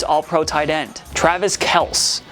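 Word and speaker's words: Kelce: one time that's Le I got Kelsey and then Kel my real name is Kel so I mean I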